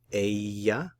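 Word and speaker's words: ella: word for she is the Double L is pronounced like a y so Aya and the word for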